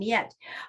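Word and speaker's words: Mljet: it's another strange spelling it's j e t and it's pronounced like a y so it's um yet uh miyette is known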